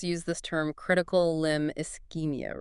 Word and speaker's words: ischemia: You pronounce it as ischemia.